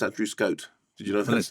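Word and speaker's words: Andrew Scott: is really terrific Paul Mescal yes particularly good Andrew scah no it's pronounced Andrew Scot did you know that let's do that from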